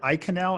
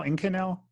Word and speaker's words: Inconel: did you pronounce it eye canal in canal i-n-c-o-n-e-l like it's a trade name okay and and i